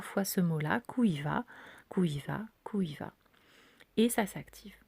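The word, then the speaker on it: Kûiva: Il se dit Kuiva. Ok. Alors il s'écrit K, U accent circonflexe, qui se dit OU, IVA. Donc K, U accent circonflexe, IVA, et qui il se dit Kuvia.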